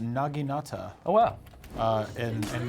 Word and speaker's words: naginata: actually pronounced naginata, Oh, wow.